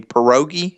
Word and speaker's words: pierogi: I did not know what a pierogi. Am I pronouncing that correctly, Yes, Brad?